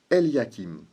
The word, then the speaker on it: Eliakim: Le nom de celui qui reçoit cette clé, dans le livre d'Ésaïe, se prononce Eliakim, qui vient de El, qui signifie Dieu, et